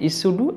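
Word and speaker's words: pseudo: देखिए दोस्तों इसमें पी साइलेंट है, इस्यूडो एलम।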